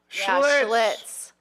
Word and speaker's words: Schlitz: It should be a one syllable. I say schlits. Schlitz. I remember schlitz.